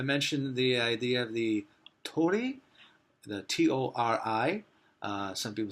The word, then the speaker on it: torii: some people say torii some people say there there's the beat sound in Japanese which is it looks like our RI but it actually sometimes sounds like an L sometimes a D and a little bit like an R so you'll hear it pronounced like told eat told E or